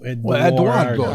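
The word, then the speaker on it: Edoardo: But with an O. E-D-O. Eduardo. That's how you say it. Yeah, Yeah. not with a U.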